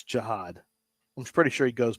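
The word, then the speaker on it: Jihaad: Can they The pronunciation guide is right here. It's Jiad. Jiad.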